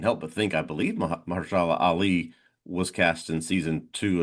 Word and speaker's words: Mahershala Ali: Mahershala Ali, is that how you say it? Apologies if I pronounced your I name believe wrong. that's right. Yes.